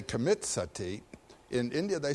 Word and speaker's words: Sati: important you know the word Sati in Sanskrit it's spelled s-a-t-i long eye that word Sati comes